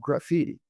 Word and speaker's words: Graphiti: Uh, so it's ZEP, and their product is called Graffiti. That's the temporal knowledge graph. Graffiti. By the way, Zed. spelled with graph, GRAPHITI.